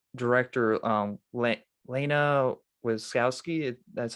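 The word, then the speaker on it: Lana Wachowski: and even because even the like director um laina wiskowski that's how you say her name she didn't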